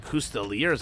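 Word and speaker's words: Coustillier: Custeliers out as well. I know they're pronounced Custelier, but there's absolutely no way I'm going to be able to keep saying Custelier, Custelier.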